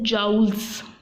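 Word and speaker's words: joules: Okay और इसी तरह हीट हम मेजर करते हैं, ये यूनिट है इसका GOULES, जाउल्स. Okay you will pronounce it एज जाउल्स और किलो जाउल्स.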